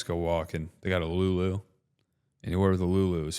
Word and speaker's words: Lululemon: They got a Lulu. Anywhere with a Lulu is fantastic. Thanks, Canada. What's the Lulu? Lululemon.